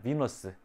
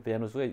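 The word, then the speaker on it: Venus: 비너스. 그러니까 아프로디테가 로마로 가서 이름을 받는 게 베누스. 그게 베누스가 미국 영어식 발음으로 비너스.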